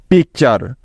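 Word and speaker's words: picture: সর্বশেষ উদাহরণটা হলো পিআইসি টি ইউ আর ই পিকচার এখন তোমরা কেউ বলতে পারবে যে এই শব্দটিকে সঠিকভাবে বানান করার জন্য প্রথমে আমাদেরকে কি করতে হবে শব্দটিকে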